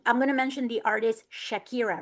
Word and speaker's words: Shakira: they are interviewing her, they don't say shakira, they say sakira because they can't pronounce the sh. So, I don't know if any of you have picked picked up on that before, but next time if you're watching any of her interviews in Spain, right? Specifically in Spain, a lot of them say sakira sakira because they can't say shakira.